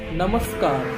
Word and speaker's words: নমস্কার: প্রথমে ওরা ঠিক উচ্চারণ করতে পারলেন না। বললেন, না মা স্গর। বাচ্চাটা নামা নাম নাম। কয়েকবার চেষ্টার পর উচ্চারণ ঠিক হয়ে গেল। বাচ্চাটাও বাবা মায়ের সঙ্গে গলা মিলিয়ে বলতে লাগলো, নমস্কার।